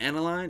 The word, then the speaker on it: aniline: And since it goes through a more That's how you natural pronounce it, process, aniline.